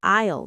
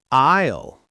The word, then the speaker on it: aisle: Pronounced like island without the land. Isle. So they might say it's an isle 4 next to the pasta. Aisle four.